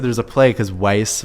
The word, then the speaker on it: Weiss: there's a play because weiss rhymes with ice yeah that's tacky a